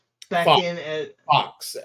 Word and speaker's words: Fuchs: Back Fox, in at Fox. It's actually pronounced Fox. Fox. Okay, Yeah, Fox, but it's Fu. Okay, yeah.